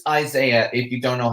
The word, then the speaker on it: Isaiah: It's Isaiah, if you don't know how to pronounce it.